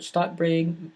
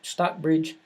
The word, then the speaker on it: Stockbridge: pronounced this miss Cooper I mispronounced this everybody knows that I'm from the south can tell the stockbreeding Stockbridge Massachusetts my wife says that I put too many T's in there towards the middle of it so in Stockbridge